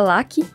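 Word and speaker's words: Raki: Mas se pronuncia Laki. Na verdade é um Laki meio embolado, tá? Porque é japonês. Mas se escreve Haki com R.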